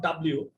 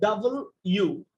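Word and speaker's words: W: ডাব ইউ আর ও টি ই অনেকে এটাকে ডাব দিয়ে উচ্চারণ করে প্লিজ এটাকে ডাব দিয়ে উচ্চারণ করেন না ইটস নট ডবলিউ এটা হচ্ছে ডাবল ইউ মানে ইউ টাকে দুইবার লেখা হইছে ডবলি ইউ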